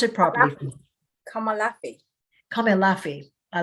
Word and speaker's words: Komolafe: Her name is Komolafe. Am I saying that wrong? So pronounce it properly. Komolafe.